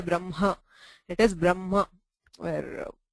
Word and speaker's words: Brahma: the pronunciation is always Brahma where the ma comes first and the hakara is not fully pronounced we do not stress the hakara and say brah ha it is Brahma where it's a sort